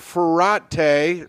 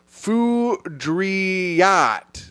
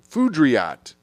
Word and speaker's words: Foudriat: Ferrate. Now we'll see if I said it right. Great show, great guest. Bring him back. Also to Tim. My last name is pronounced Foudriat. Foudriat. It's French.